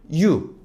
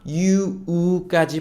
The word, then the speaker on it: you: 있어요 첫 번째는 발음입니다 한국에서는 유 그냥 유로 하는데 제가 옆에다가 어떻게 읽는지 회색깔로 써놨죠 그냥 이유가 아니라 유우까지 붙여 주셔야 원음에 더 가깝다 u는요 너에요 당신입니다 어